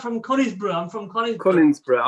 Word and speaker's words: Conisbrough: Cunningsborough. Conisborough. Cunningsborough. It's Cunnings. Conisborough. It's spelled C-O-N, not C-U-N.